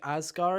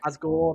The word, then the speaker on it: Asgore: It's like one of the things was you got King Asgar. Is it what's his name? I I've don't remember always what the name. pronounced it like Asgore. Asgore. That's it.